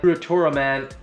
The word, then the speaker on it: Ultraman: you can fully understand ultraman uratura man in japanese way of saying it is a fictional superhero